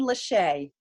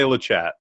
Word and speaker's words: Lachat: I'm saying it correctly, it should rhyme with today, Lachat. Am I right? Well, it's close. I actually say Lachat.